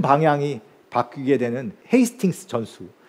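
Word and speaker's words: Hastings: 큰 방향이 바뀌게 되는 헤이스팅스 전수 그 사람들이 좀 하스팅스 이렇게 해도 발음을 하는데요 헤이스팅스라는 이쪽 지역의 풍경인데요이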